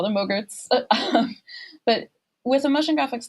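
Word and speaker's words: MOGRTs: we do call them Mogurts for short. Rhymes with yogurt. We call them Mogurts.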